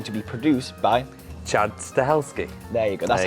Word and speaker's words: Stahelski: it is going to be produced by Chad stahelski there you go that's how you pronounce it I was struggling a little bit